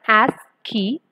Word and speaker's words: ASCII: The code called ASCII is pronounced as ASCII, which stands for.